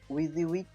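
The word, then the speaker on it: WYSIWYG: এটার প্রোনাউন্সিয়েশনটা হচ্ছে উইক, যার মানে হলো what you সি is what you গেট।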